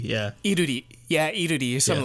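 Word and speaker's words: 이루리: So nominated we have Aesoo, Lim Kim, Lula, who her name is pronounced completely different in Korean. Yeah, and I don't remember it. It's like Liluli or something like that. It's Iruli. Yeah. Iruri.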